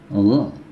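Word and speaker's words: غ: Gha, ini terdengar gantung ya. Gha, di tenggorokan tidak ya, tetapi di pangkal mulut juga tidak. Ya, jadi di tengah-tengah pangkal tenggorokan.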